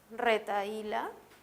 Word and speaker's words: retahíla: la palabra retahíla retahíla si las separamos en sílabas tendremos red está y la la h no cuenta para los efectos del si la veo yo tengo una vocal abierta y una y cerrada esto es un gato una abierta y una cerrada como sé que ya está porque la cerrada tiene la mayor fuerza de voz reta y la es la sílaba tónica voy a colocar tilde